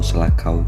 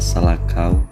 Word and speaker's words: Selakau: Nama Kesultanan Selakau Tunggul Rahayu atau Selakau juga dikenal dengan nama Salakau atau Selako karena kesalahan pengucapan oleh para penutur bahasa non-Sunda.